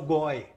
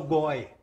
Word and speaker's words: g0y: Mãe, eu não sou gay, eu sou goi. Hã? A palavra goi se escreve com G, o número zero e o Y.